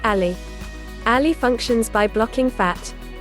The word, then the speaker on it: Alli: Can Alli help you lose weight?